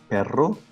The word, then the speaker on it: perro: software um rolling like when we say for example pero so as you can see as you can hear we are not saying raw because in that case we would be saying the word doc in spanish so there we recognize the difference between a longer role perro and the very very short uh rolling of the r which is perro so this r is